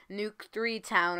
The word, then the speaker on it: Nuk3town: by the way guys nuke town is actually pronounced with a three not a e nuke 3 town or whatever you want